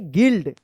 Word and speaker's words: guild: गिल्ड।